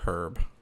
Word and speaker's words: herb: I just always since I was a kid said herb. So, and now I know it's herb. I know the h is silent, but I still sometimes go back and forth.